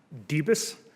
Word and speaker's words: Debus: your last name debus okay thank you has anyone ever mispronounced it all the time like anyone ever I missed the bus it five letters but it's uh can be tricky okay all right um